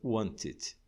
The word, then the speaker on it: wanted: Finalmente, se a terminação do verbo for naturalmente em T ou D, a gente acrescenta uma outra sílaba. O caso de want já termina em T, então vai ser wanted.